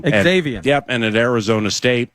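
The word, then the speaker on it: Xavion: able to pronounce uh I think I'm just going to go with Xavian Valet. Uh it is that's what it is. Xavian. Xavian.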